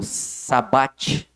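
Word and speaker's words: shabbat: No judaísmo, o sábado, pronunciado sabat, né, significa descanso.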